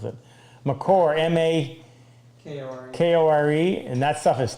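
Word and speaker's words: makore: Actually, that's not how Melcott pronounced it. Macor, M-A-K-O-R-E, and that stuff is terrible.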